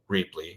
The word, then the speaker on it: Rheaply: But we're Rheaply, think reuse cheaply, Rheaply.